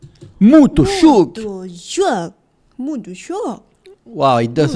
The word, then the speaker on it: Motorsåg: Motorsåg. Motorsåg. Motorsåg. Then unstress. Do. Såg. Motorsåg. Motorsåg. Motorsåg. Motorsåg. Motorsåg. Motorsåg. The second Motorsåg. syllable here is totally Motorsåg. unstressed.